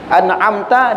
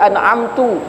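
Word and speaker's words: أنعمت: atau dia membaca an'amta dibacanya an'amtu kemudian atau dibaca ghairil magdu kemudian baca ghairil rnya jadi gin juga gitu kan.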